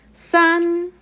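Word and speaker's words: 三: tienen esa práctica verdad entonces este carácter se pronuncia sanz ahora para el número 4 este es tono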